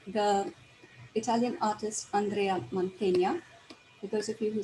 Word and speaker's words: Mantegna: So as I was saying, the Italian artist Andrea Montanya, for those of you who speak Hindi, this is how you pronounce his name, his last name, Mantegna.